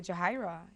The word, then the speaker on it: Yajaira: It's with a Y, and you pronounce it with a J. But it's a Spanish name. It's Yajaira, and I say Jahaira.